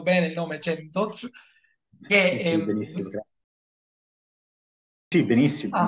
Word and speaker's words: Centoz: Ho pronunciato bene il nome Centoz, Sì, benissimo.